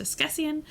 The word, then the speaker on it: askesienne: This is pronounced Esquessian.